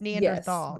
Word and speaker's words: Neanderthal: And I actually think it's Neanderthal, not tall. There's two different versions, and this is Thal, just to be clear.